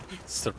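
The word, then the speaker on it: Seregios: Serios. Serios. That's the correct way to pronounce it.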